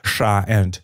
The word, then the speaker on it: щ: Now, sha, which is pronounced with the tongue posture as in the image. As you see, the tip of the tongue is raised and pushed far forward, almost till the upper front teeth.